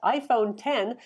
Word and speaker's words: iPhone X: 8 iPhone 8 plus iPhone 10 that's the iPhone with the X it's pronounced 10 for those who of